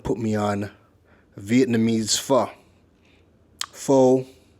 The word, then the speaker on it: pho: Pho, for the people that don't know, it's pronounced pho.